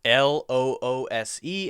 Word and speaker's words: loose: L-O-O-S-E and L-O-S-E. So the first one is loose. Loose. Ooh-ooh-s-s. Loose. Loose.